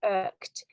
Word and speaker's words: irked: Now, the pronunciation is quite tricky because it's the same as in the word bird or work. So when you say work, the sound is in irked.